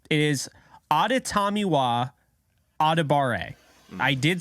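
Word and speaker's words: Adetomiwa: maybe 0.1 of anybody talking NFL draft can pronounce correctly it is auditamiwa I did say that correctly because I have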